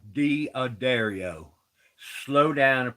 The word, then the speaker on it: D'Addario: You young fellas out there, it ain't called D'Addario, it's called D'Addario.